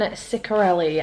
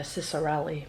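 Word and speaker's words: Ciccarelli: rebel Witch by Kristen sarelli I did not realize that's how you pronounce her name I've been calling her cisari my apologies uh Kristen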